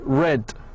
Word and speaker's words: read: In the past, by the way, it's pronounced like red.